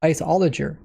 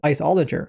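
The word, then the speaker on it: Iceologer: out with was the isoler. Now like I said I was pronouncing it wrong. I was pronouncing it isol cuz that's what it looked like it said but they pronounced it isoler.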